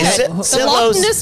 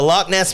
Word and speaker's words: Loch Ness: life I live anyway Loess monster the Loch Ness monster monster uh I didn't pronounce that right he said it's just